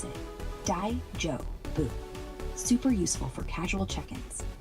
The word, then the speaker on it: daijoubu: Pronounce it Daijubu.